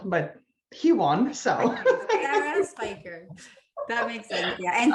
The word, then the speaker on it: Speicher: It took me forever to debate with my husband how to pronounce the way it's spelled, but he won. So SARA SPEICHER.